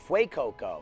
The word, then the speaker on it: Fuecoco: I don't know how you even pronounce that. Is it Fuecoco? Fuecoco.